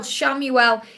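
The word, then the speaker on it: Chamuel: you're call an archangel shamuel pronounce c h a m u e l shamuel he is the finding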